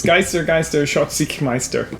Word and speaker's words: Geister Schatzsuchmeister: You said it wrong. It's Geister Schatzsuchmeister, which is a German game, but the American or English title is Ghost Fightin Treasure Hunters.